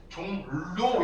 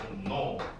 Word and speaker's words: 종로: 어떻게 발음이 나요, 얘? 종로 이렇게 발음 안 하죠, 그죠? 종 뭐라고요? 노라고 얘기를 합니다. 종노.